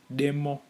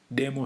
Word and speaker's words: demo: english word for demo it's the same spelling but it's pronounced differently in shona it we have demo demo stands for an x